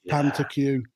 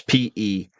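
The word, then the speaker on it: pétanque: What is Pantacue and why is that an achievement? It's spelt, for anyone who wants to look it up, Petanque. That's Petanque.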